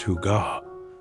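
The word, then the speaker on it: hygge: This Danish concept pronounced huga captures that indescribable sense of coziness, contentment, and well-being that comes from simple pleasures.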